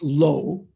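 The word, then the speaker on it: blo: in parentheses there says b-l-o is pronounced low like in low rig that's the low of low rig awareness nowhere rigpa like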